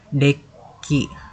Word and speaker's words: deque: Deki, sebuah deki diucapkan dek atau antrian 2 ujung